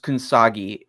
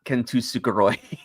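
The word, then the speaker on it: Kintsugi: that's relevant first off it's uh pronounced kagi not kusuki but I didn't know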